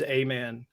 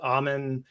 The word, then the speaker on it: Aman: good heart so so my last name's amen and it gets mispronounced almond almond so I I definitely